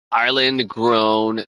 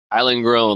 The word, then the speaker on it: Island Grown: loud cuz I'm like I keep on saying it wrong Island grown like the island grown g r o w n 7777 Island grown